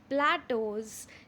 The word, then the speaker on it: plateaus: Okay, how is that word plateaus pronounced as plateau.